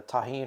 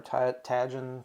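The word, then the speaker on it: Tajín: It's a J, and I presume it's pronounced in Spanish, so I say it that way.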